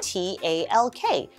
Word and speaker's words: talk: Here we notice W-A-L-K is very similar to T-A-L-K, talk, but we pronounce talk as T-O-C-K, like TikTok.